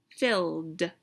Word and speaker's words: filled: is my ending sound filled duh is my ending sound when we add e d to the end of the word phil the edie sounds like a duh filled so what is my